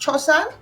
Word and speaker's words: Chosan: I chose Chosan because it's actually pronounced Chosan, and it means tradition, culture. It's a wall-off word.